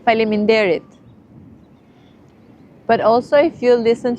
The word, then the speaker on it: faleminderit: You say faleminderit.